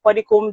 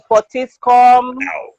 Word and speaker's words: Puddicombe: So pudding and the comb, you use to comb your hair.